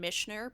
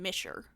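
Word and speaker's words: Mischer: There's no N in there, but I liked the name way you pronounce his name. Oh, sorry. Don Misher. Misher.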